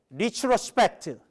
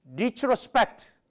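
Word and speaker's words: retrospect: 리트로스펙트. 그 팩이 조금 발음이 세고요. 트가 약간 약합니다. 리트로스펙트.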